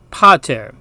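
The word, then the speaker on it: pater: the long a now the short a is a less distinct sound it's more like the first syllable in a word amaze and so the Latin word for father which has a short a is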